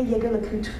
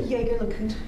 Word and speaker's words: Jaeger-LeCoultre: Is that a Jaeger-LeCoultre you're wearing? Good eye. And proper French pronunciation. Wow, most people get that wrong. Yeah, well, I love men's watches. Sort of a hobby. Is that a Jaeger-LeCoultre you're wearing?